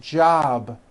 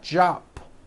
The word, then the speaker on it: job: be voiced for example job ends in a B which is a voiced sound job it's not jump with an unvoiced P keep the voicing going throughout the whole word job with a voiced be ending same thing with robe